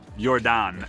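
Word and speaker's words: Jordaan: now we're in our favorite neighborhood can you pronounce it we're in yordan neighborhood yordan my aunt used to live here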